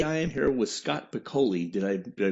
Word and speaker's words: Piccoli: I am Ron Collins, the general manager of the Yellow Springs Nine, and today I am here with Scott Piccoli. Did I pronounce that properly, Scott?